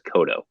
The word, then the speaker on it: Cotto: well yeah Joseph Cotto that's how he pronounced his last name and I try to get those right because everybody always says my last name wrong so he says kodo um yeah his 5K